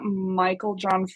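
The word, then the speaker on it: Meiklejohn: yeah, so the authors are Flavia Kate Peters and Barbara Michael John Free. I really hope I pronounced Michael John, but I'm pretty sure I got it right. It's spelled Um, Meikle John. So, Dash free.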